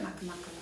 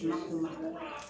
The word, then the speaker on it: Makamaka: how was it at Makamaka Road? Oh, Makamaka, he said, and he's like, miss, it's Makamaka.